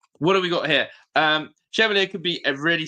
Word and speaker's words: Chevalier: It's pronounced Chevalier. Chevalier. Chevalier? Lucas Chevalier.